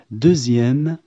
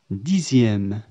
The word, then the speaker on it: dixième: يُنطق حرف "x" كحرف "z". نقول "deuxième، dixième".